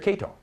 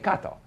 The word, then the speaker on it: Kato: Kato. Okay, Kato is K-A-T-O. So I say, John, this is Mr. Kato. Hello, Mr. Kato. Why? Why? I just finished saying Kato, and yet he says Kato, because on the card it says K-A-T-O.